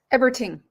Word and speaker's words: Eberting: Eberting. Eberting. Okay. Wanted to get that right. I hate it when I pronounce people's names wrong.